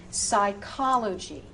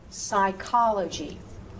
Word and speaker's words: psychology: If the PS is at the beginning of the word, say only that S. And again, you know these words. These words have crept into the English language. So, psychology, psychology.